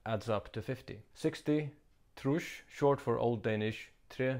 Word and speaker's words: trýss: 60, trush, short for old Danish tre sinds tyve, meaning 3 times 20.